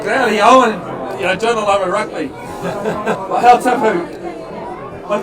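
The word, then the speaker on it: Garryowen: Gary Allen, as you might call him, Wolfgram made a good effort of it, but I don't think you've got to do the old Welsh pronunciation. The Gary Owen, Journal over Rugby.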